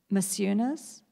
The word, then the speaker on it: Maciunas: is, and I don't really know how to pronounce his name, McCunis or Masunis. He was one of the Fluxus artists, I think. Masunis?